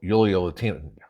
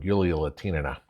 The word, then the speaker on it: Yulia Latinina: So Yulia Latina, got her name wrong, Yulia Latinina. I put an ova on there for some reason.